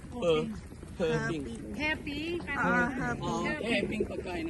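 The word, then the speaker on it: Heping: Ang spelling niya, H-E ah, hindi H-O. H-E-P-I-N-G. Pero ang bigkas niya, Hoping.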